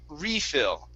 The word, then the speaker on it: refill: would then be a refill so the noun has the stress at the beginning the verb has the stress on phil okay okay and the